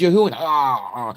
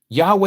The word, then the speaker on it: Yahuwah: say his name is Yahuwah. And no, his name is Yahweh. No, it's not. Yahweh is what they gave you.